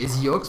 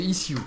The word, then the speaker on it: eSioox: fondateur de is alors moi j'étais appelé à prononcer ex mais c'est isux hein en effet c'est isux voilà alors un petit rappel